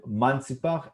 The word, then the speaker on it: Mantzipach: So this is the way we spell them or pronounce them, Mantzipach, as a group of letters.